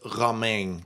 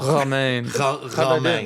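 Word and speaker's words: Romijn: First of all, let me just say I'm going to pronounce it the Dutch way. It's Raing. That's how they pronounce her. It's so tough. It's like international. Roma.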